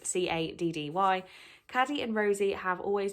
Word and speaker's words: Caddy: I don't want to say Caddy because it sounds like I'm saying the Mean Girl's name wrong, but it is Caddy.